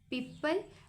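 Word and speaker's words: people: यहां पर जो ओ है ना ये वर्ड साइलेंट है ये लेटर इस वर्ड में क्योंकि हम इसको पीपल पढ़ते हैं पीपल नहीं पढ़ते यहां पर ओ हम प्रोनाउंस नहीं करते रिटन है बट हम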